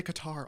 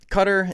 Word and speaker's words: Qatar: The the the proper pronunciation is is cutter. I'm disappointed in the commentary. They say Qatar all the time cuz they're British.